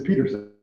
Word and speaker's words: Pedersen: Next person is Pedersen. I hope I'm saying that right. Hello, good evening. It is Pedersen, right, or Peterson? It is Peterson, yeah. Okay. They spelled it with a D.